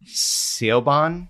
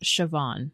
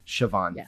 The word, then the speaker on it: Siobhan: Sebon, it's pronounced like Siobhan. Siobhan, thank you.